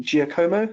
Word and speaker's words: Giacomo: Google Sheet formula from, was it Giacomo? Is that how you pronounce it, Scott? Yeah, Giacomo.